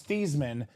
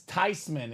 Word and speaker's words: Theismann: Well, technically, Ryan Williams, he now goes by Theismann, but his family name pronounced was Thiesman, but his grandma says it's Theismann is the proper way to say it.